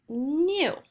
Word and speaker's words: knew: together inkay is first the K is silent so this would say nu nu I knew the answer